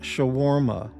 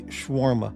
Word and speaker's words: shawarma: Morty, you certainly make a point to hit every syllable ever imagined with shawarma, rather than simply shawarma.